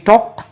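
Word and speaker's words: talked: திட்டங்களைப் பற்றி பேசினோம் வி டாக்ட் about our plan we டி ஏ எல் கே இடி வி டாக்ட் இதுக்கு உச்சரிப்பை கவனிங்க டாக்ட் அதை டாக்டுன்னு சொல்லக்கூடாது வி டாக்ட் அபௌட் அவர்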